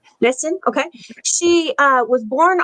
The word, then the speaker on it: Nissen: talking about Wilma June N I believe or niss how you say her name Nissen okay she uh was born on October 19th